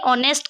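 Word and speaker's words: honest: ऑनेस्ट, हम एच को silent करके ऑनेस्ट कह रहे हैं, मतलब ओ का साउंड ले रहे हैं, तो ये वोवेल से,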